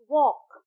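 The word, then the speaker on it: walk: टी ए के टॉक तो एल is silent. वॉक डब्ल्यू ए एल के वॉक।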